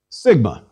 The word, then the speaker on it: sigma: me as you prefer sigma sigma is equivalent to s and pronounced as the s in sing note however that there are three sigmas uppercase sigma and two lowercase sigmas one lowercase sigma looks